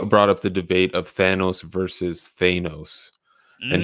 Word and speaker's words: Thanos: thanos versus thanos and he would always say thanos and we were like oh no way it's thanos it's thanos it's got to be thanos yeah turns out we're right yeah that was a yeah